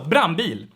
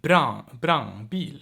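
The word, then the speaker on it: brandbil: want the rules so brambil brambil or even brown beel it's like nasal it's weird stuff but yeah brambil or brownbill it's a nasal a almost but you want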